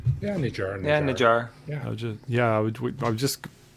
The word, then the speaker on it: Nijar: yeah, Nijar.